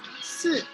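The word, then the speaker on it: 四: pronounce it as si. Try saying it.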